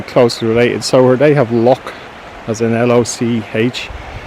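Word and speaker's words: loch: related so they have lock as an l-o-c-h it's really more to do with pronunciation we have lock which is l-o-u-g-h so it's l-o-c-h versus l-o-u-g-h broke me in the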